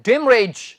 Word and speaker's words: demurrage: जी हां, इसका उच्चारण है डिमरेज।